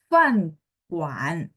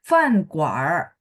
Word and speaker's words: 饭馆儿: ada R di belakang, Fan Guan, boleh nggak? Boleh ya. Jadi kalau tanpa R berarti bacanya Fan Guan, boleh.